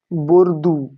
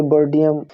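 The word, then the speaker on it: Bourdieu: তারপরে বর্ডিয়াম and young বর্ডিয়াম বলতে এর নাম একচুয়ালি বর্দু ঠিক আছে এর নাম একচুয়ালি বর্দু ইংরেজিতে সেটা উচ্চারণ করে বর্ডিয়াম এবং কিনা এবং হচ্ছে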